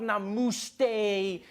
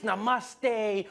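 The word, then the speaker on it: नमस्ते: People were coming on like, dude, it's not namaste, it's namaste. Who messes up namaste?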